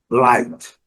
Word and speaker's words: light: Light, sem comentários, GH, mudo e pronúncia do I com sonoro.